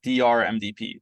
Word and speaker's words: DRMDP: That's DRMDP, that we pronounce Dr. MDP.